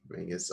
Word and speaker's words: Mingus: No, I mean Mingus. Hard fight. That is the proper pronunciation of it, unfortunately. Yeah, it's pronounced Mingus, unfortunately.